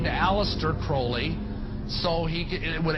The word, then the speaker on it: Crowley: about was Alistair Crawley he likes to have his name pronounced Crowley to rhyme with holy and uh the satanists